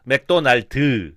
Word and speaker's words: 맥도날드: 제가 그 미국 분한테도 한국어 가르치는데 한국어로 영어 발음하는 거를 갖다가 제가 알려드렸는데 맥도날드 그죠? 뒤에 음을 강하게 하라. 맥도날드.